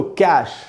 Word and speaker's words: cache: तो इसके दो उच्चारण, इसका मतलब होता है सिले हुए कपड़े, रेडीमेड। उसके बाद दोस्तों कैश, ये वर्ड CACHE, कैश।